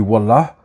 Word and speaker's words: wallah: l'utilisation du mot wallah il y en a qui disent wou il y a plusieurs autres prononciations mais voilà en général on dit wallah ça signifie par Dieu